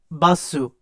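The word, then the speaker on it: バス: and bus is basu. So like that, what you would think is like a racist impersonation of it is actually Japanese.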